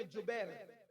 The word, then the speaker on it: جبیر: صحابہ کو عبداللہ ابن جبیر، زبیر نہیں بلکہ جبیر، جیم سے جبیر، تھوڑا سا آج کل